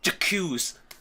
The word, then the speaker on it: j'accuse: it'd be more like it wouldn't be like a hard J. It'd be like that. J'accuse. Something more like that.